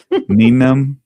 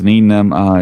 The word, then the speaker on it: Nien Nunb: Nien Nunb?